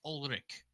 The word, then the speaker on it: Ulrich: It's just Ulrich. The H is silent.